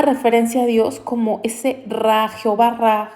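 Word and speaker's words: רעה: Lo pronunciamos nosotros como Ra. Ra es pastor.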